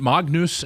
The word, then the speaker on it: Magnus: Yeah, the G and the N form one. If you can tell someone who's studied Latin before, they'll make that little pronunciation.